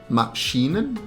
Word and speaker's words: Maschinen: start with beide, then Maschinen. You can cheat here by not pronouncing the N at the end because you will not really hear the difference.